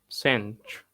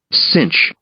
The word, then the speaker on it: cinch: فاحنا قلنا C بعدها I أو Y أو E أو I أو Y بتنطق C، فهنا that's why it's called cinch.